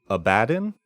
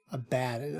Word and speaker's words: Abaddon: But pronunciation, if it is in English, current English, it's Abaddon. Abaddon. Okay. But if you go with the original Hebrew, it is, in Hebrew it's Avadon, but it's Abaddon.